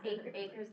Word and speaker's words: Acre: Yes, Acre's the correct pronunciation.